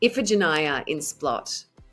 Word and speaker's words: Iphigenia In Splott: Iphigenia In Splott. Very close. Very good. Very close. So Iphigenia In Splott.